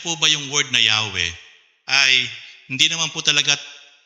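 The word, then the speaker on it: Yahweh: yan A and E Yan po ay Y w h wh y po yan hindi mo hindi mo kayang bigkasin ang ang pangalan ng Diyos kaya lang po yan nilagyan po ng ah bowels nilagyan ng a at saka is sa pagitan para mabasa po na yahwe o yehova pero Yan po ay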